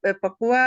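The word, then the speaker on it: Pakua: पकुआ क्या बोलते हैं इसको? पाकुआ। पाकुआ मिरर। पकुआ स्पेलिंग्स क्या आएंगे?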